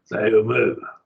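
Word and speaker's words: θεοῦ μου: They would just be like you hyphenated the word. Theou, mu. And so you would hyphenate it. So it butts up against it and becomes like part of it, hyphenated. And that's how I was told that it ought to be pronounced.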